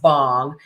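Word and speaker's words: bhang: what bangology what bang means and it's actually pronounced bong it is um the it's a drink that's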